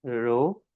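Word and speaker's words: rho: तो this is a Greek letter. It is pronounce as रो।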